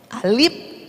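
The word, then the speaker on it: ا: Zaman dulu tuh yang pakai lidi, alif, bukan lagi A, bacanya alif, ba, ta, sa.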